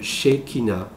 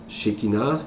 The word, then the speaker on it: Shekinah: originel de la source, qui s'appelle le langage Shekinah. Shekinah, qui est écrit comme le S-H-E-K-I-N-A. C'est comme ça s'écrit.